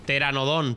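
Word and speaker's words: Pteranodón: ] Teranodón. Teranodón se llaman, pero empieza por P. Ya, pero la P no se dice, ¿no?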